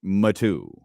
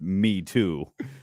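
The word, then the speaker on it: Matoo: m-a-t-o-o number two Freeport matu uh thank you to the new guy who's telling us how it's pronounced and it is not pronounced me too oh man fantastic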